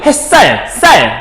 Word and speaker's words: 햇살: 햇살, 쌀이니까 시옷이 쌍시옷 됐잖아. 된소리 변했지?